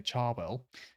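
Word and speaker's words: Cherwell: South Oxfordshire West Oxfordshire chw well I think some say CH say charwell whale of White Horse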